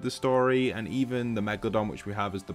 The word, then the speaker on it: Megalodon: And I've been pronouncing him Megalo for a while just because when you read it, it kind of gives that vibe. And then Don, Megalodon.